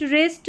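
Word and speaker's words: wrist: Number 15 पर है WR, WR में र, यानी कि W साइलेंट है, R को पढ़ा र। तो देखिए राइट, रिस्ट, रैक, और ये है लास्ट में रिंकल।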